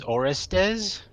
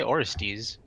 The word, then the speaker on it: Orestes: you are I mean if you go by what these guys say it's Orestes which is never how I pronounced it but I say or stis oh sorry based on